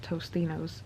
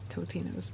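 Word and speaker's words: Totino's: time in my life I thought they were pronounced Tostinos I could have sworn there were Tostinos, but they're Totinos.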